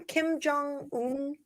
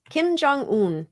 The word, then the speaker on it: Kim Jong-un: see why how do we say his name Kim Jong-un Kim Jong-un yes um he's an interesting Feller he is